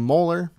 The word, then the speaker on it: Mueller: Some people call him Mueller. Other people call him Moeller. I used to have a friend that had the exact same last name, and he used to pronounce him Moeller. And some other people pronounce it Mueller. So I guess it just depends on how you want to pronounce it.